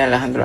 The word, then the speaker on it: Alejandro: But if I was to go to Beans, Rice, and Cheese Land, it would probably be pronounced in the Hispanic sort of way, which was Jose Alejandro Alcala.